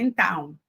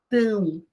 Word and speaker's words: então: Aí está dizendo assim, não podemos esquecer, então, veja, então, de novo é nasal, né? Não é então, é então, tão.